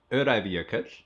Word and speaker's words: Öræfajökull: It's pronounced Öræfajökull.